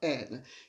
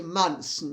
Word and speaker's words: Monson: Oh, and by the way, Monson is spelled Monson. It's pronounced Monson, not Monson.